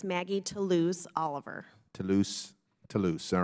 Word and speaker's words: Maggie Toulouse: Member, it's Maggie Toulouse Oliver.